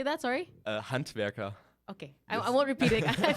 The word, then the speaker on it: Handwerker: Handwerker.